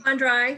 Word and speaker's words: Fandre: Before we hear from this evening's speaker, Fandre, do I pronounce that right? Fandre is good, yeah.